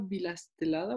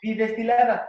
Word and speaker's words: bidestilada: ¿Qué es el agua bilastelada o cómo lo pronunciaste? Bidestilada.